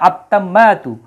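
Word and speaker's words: التامة: তা হচ্ছে সূর্যাক্ষর অর্থাৎ তা এর পূর্বে যদি আলিফ লাম বসানো হয় তাহলে তা এর উপরে একটা তাসদি চলে আসবে অটোমেটিক হ্যাঁ আত্তাম্মাতু তখন একটা পেশ কমে যাবে আত্তাম্মাতু হবে যেহেতু আলিফ লাম আছে আত্তাম্মাতু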